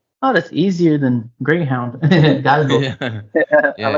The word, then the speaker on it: galgo: Galgo. G A L G O. Oh, that's easier than Greyhound. Galgo.